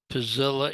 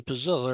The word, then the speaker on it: Puzzilla: And so that's what Pazilla is. Notice how it's spelled.